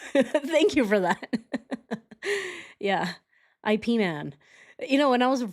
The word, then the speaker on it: Ip Man: His real name is Yipman. And you use you pronounce the Y, but it is said like IP as in dip.